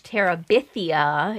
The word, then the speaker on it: Terabithia: Bridge to Terabithia is how that's pronounced.